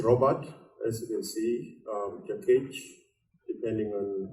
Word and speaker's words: Jakech: So if you call me Jakech, that means that's the correct pronunciation, the hungry one. If you call me Jakech, that means the selfish one.